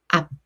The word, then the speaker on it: 앞: So it is pronounced like 앞, not 앞.